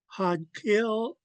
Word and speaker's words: Xaad Kil: Had kill is Haida or Haida language.